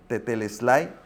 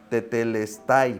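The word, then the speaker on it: τετέλεσται: eh que es del vocablo teles no perdón teteles no tetelestai perdón Es difícil pronunci estas y significa todo está cumplido todo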